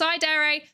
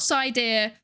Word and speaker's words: Psydere: It's pronounced Psydere, not Psydere. Please don't call me Psydere. It's Dere. Like Sundere or Dere or Yandere.